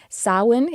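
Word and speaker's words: Samhain: Alexis has spelled it on the screen here sawin it's spelled s m h a i n and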